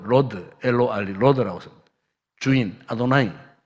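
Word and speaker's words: אדני: 분명히 글자는 여호와예요, 여호와. 그런데 이 여호와를 안 읽어요. 밑에다가 아도나이를 표시를 해놔요. 그러고 여호와 다 나올 때는 밑에 아도나이라는 다른 단어가 붙어 있어요. 모음이 붙어 있어요. 그러면 그걸 아도나이라고 읽어요. 아도나이.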